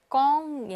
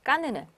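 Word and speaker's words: Cannes: 이렇게 비음인데 뒤에 자음이 다시 N이나 또 M 들어갈 있을 경우에는 M이 이렇게 하나 더 생기고 이렇게 될 경우에는 비음으로 발음하지 않습니다. 그래서 그대로 그냥 구강 모음이 돼요. 그래서 껑이 아니라 깐이가 됩니다.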